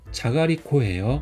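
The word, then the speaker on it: じゃがりこ: 자가리코예요. 그래서 이거는 굉장히 많이 팔리는 상품이죠.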